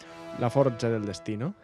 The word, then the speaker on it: la forza del destino: la fuerza del destino con pronunciación italiana la forza del destino es una ópera italiana